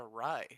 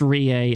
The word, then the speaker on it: Rie: It's pronounced Rie. Like, I don't watch her streams, so I don't even remember how she pronounces her own name, but Rie. Why do you keep calling her Rye?